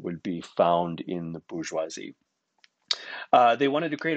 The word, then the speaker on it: bourgeoisie: problem with the bourgeoisie the bourgeoisie that's how you pronounce that word there uh it's french and it refers to